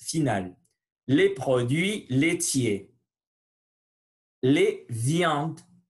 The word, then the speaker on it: viandes: Les viandes. Les viandes, je ne prononce pas le E et le S final.